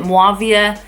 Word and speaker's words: Muawiyah: You can pronounce it Muawiyah. It's spelt Muawiyah, but I just love the name Mavia, and I thought Yahya and Mavia would go really well.